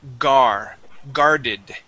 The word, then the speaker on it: guarded: Now, here with this word, that U, okay, the U is going to be silent, okay? We are going to say guarded.